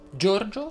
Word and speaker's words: Giorgio: invece la è aperta giorgio si pronuncia con la o chiusa giorgio andrea sia al